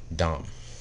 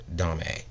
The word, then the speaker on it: domme: of people mispronounce it dom a or dom b the thing is that it's french and the thing is they don't say the last part it's dom and i